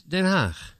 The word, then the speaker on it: Den Haag: She was studying in The Hague, Den Haag. Is that how you say it? Yes, Den Haag.